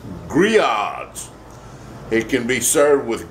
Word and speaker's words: Grillades: Looks like it's when you look at the word Grillades, it looks like it's spelled Grillades. We ain't got no AIDS. And we ain't gonna grill it. It's Grillades.